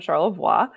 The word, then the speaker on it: Charlevoix: We Americanized it. It should have been Charlevoix, and named for the French Jesuit missionary. His last name was Charlevoix, so Pierre Francois de Charlevoix. Charlevoix.